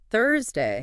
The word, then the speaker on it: Thursday: But Thursday... Thursday starts with the sound, the hey. You have to actually stick your tongue between your teeth. For speakers of, say, French or German or many other languages, that sound just doesn't exist.